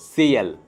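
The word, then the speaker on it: съел: तो अगर इसमें हार्ड साइन नहीं होता तो जस्ट होता सेल, नॉर्मल सेल, लेकिन क्योंकि इसमें हार्ड साइन है तो स के पीछे ये हार्ड साइन है, तो स थोड़ा ज़्यादा प्रेशर देके प्रोनाउंस करना पड़ेगा और हार्ड साइन अपने सामने और पीछे के अक्षरों को डिवाइड कर देगा, अलग कर देगा। तो सेल और हार्ड साइन के साथ सीएल।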